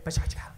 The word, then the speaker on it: PechaKucha: PechaKucha. It doesn't matter how you say it. It's Pechachka, PechaKucha. The Japanese kind of say it fast. They say Pechachka.